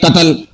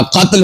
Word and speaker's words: قتل: مثال کے طور پر ہم بولتے ہیں قتل، حالانکہ قتل نہیں ہوتا، قتل ہوتا ہے، قتل تا ساکن ہے۔ فکر، ہم بول دیتے